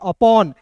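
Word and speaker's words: upon: दो कंसोनेंट के बीच में ओ आता है तो इसका उच्चारण अ के रूप में करते हैं। अपॉन यू पी ओ एन अपॉन once अपॉन ए का दोस्तों अ पढ़ते हैं। ए का क्या पढ़ते हैं? अ।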